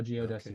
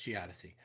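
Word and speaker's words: geodesy: I don't have a slide for that, but that is how geodessi works.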